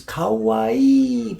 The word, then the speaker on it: 河合: His name doesn't have 2 eyes. His name just has 1 eye. It's 3 syllables. Ka-wa-i, kawaii.